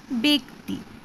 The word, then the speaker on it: ব্যক্তি: কিন্তু দেখো, আমরা যখন উচ্চারণ করি তখন কি উচ্চারণ করি, ব্যক্তি, বয়ে একার, কয়ে তয়ে হ্রস্বইকার।